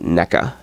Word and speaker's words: NECA: The company spelled N-E-C-A. Everyone pronounces it NECA. And I don't know. Maybe that's the way it's pronounced. I don't know. I always think of it as Nika, because just NECA, it sounds weird.